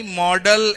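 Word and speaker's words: modal: अगर आपको सेंटेंस में मोडाल्स नजर आए, ये मोडाल्स नहीं होता. आई एम सॉरी, प्रोनाउंसिएशन जाकर एक बार गूगल पर चेक कर लीजिएगा. ये मॉडल था, ये मॉडल है और ये मॉडल ही रहेगा.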